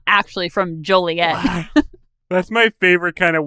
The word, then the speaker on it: Joliet: apparently the supply sergeant pronounced it wrong it's pronounced Joliet and he says it's Joliet and there's a lot on the books that